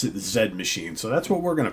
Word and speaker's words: Z Machine: You would say Z Machine, but as their sax player Rob has told me, they do pronounce it Z Machine.